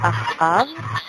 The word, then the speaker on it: Acab: Luego, el nombre se pronuncia Ahab.